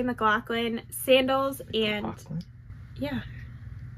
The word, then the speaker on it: McLaughlin: McLaughlin? Yeah. It's not Laughlin? No, McLaughlin. Oh. I think. That's okay. It's Irish.